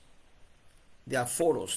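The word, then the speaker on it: diaphoros: La pH se pronuncia como una f y esaforos.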